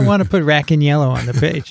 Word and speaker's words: Racaniello: to be Racaniello. That's right. Yeah. After the five syllable.